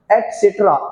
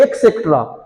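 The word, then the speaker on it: etcetera: एटसेट्रा सब बोलता है एक्सेट्रा। एक्स, इसमें एक्स कहाँ रहा? एट तो आ रहा है शुरू में, देखो ध्यान से, ईटी है शुरू में, इसको पढ़ते हैं एटसेट्रा।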